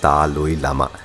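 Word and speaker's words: दलाई लामा: তিব্বতি ধর্মগুরু দলাইমা থুরি আসলে তিব্বতি উচ্চারণে ওটা হবে তালই লামা অরুণাচলের মানুষ তাকে প্রায়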